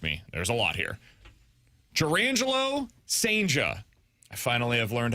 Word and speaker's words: Jurrangelo Cijntje: The Cardinals are getting, bear with me, there's a lot here, Jurrangelo Cijntje. I finally have learned how to pronounce his name.